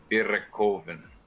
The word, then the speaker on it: Bierekoven: And then, but if you want to be fancy and feel like it, you can say it the German way, which is Bierekoven.